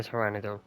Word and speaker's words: Pteranodon: But it's a silent P in it, so it's Taylor the Pteranodon.